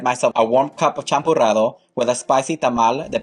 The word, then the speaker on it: Champurrado: And if you don't know how to say that, just think shampoo and change the sh to ch, and it's Champurrado. You gotta roll your R's though.